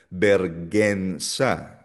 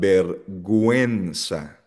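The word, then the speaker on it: vergüenza: Kasi pag hindi mo nilagyan ng dalawang tuldok or dieresis sa letter U, ang basa diyan bergensa which is mali. Dapat berguensa.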